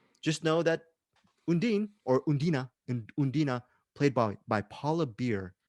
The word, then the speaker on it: Undine: to try to pronounce i thought it was initially called undine but the way they pronounce her name is undina